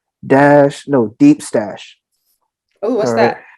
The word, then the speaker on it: DeepStash: Deep Stash. Let me make sure I'm pronouncing it correctly.